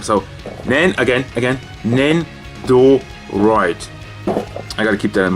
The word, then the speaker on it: Nendoroid: Not Nendoroid, not Nendo whatever. I always say it wrong. So, Nendoroid.